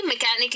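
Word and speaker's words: mechanic: आता है, जैसे कि मैकेनिक ले लो फॉर एग्जाम्पल, ठीक है, तो उसमें एच साइलेंट हो जाता है।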